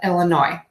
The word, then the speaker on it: Illinois: pronounce that final S, just like we do not pronounce the final S in my current state of Illinois.